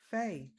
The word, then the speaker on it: Fae: And I did actually ask the guest before she came in, what's the correct pronunciation? And discombobulation at its finest. Faye.